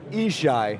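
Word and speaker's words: Yishai: up a little bit it's spelled y i s h a i but it's isai you got it like he shy and from spin excellent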